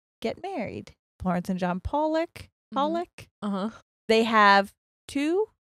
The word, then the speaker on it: Pollock: She pronounced it Pollock. Uh-huh. And then I read her get annihilated in the comments, oh, by people who are from, I believe it's in England. Mm-hmm. So people who were from England were like, it's pronounced Pollock.